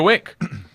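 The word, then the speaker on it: Winc: first ask Tommy and then I'd go to wink wink makes it easy to discover great Wein it's spelled wi n c hmm because Winx wine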